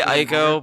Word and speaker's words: Ico: theo did you start is it ico or eco which is that what's the right pronunciation i say i go but did you i've just always called it eco have you played it's